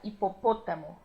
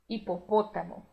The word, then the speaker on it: hipopótamo: netos assar segundo o apesar de estar acentuado em espanhol ele vai ter uma pronúncia também fechada hipopótamo hipopótamo o javali é bem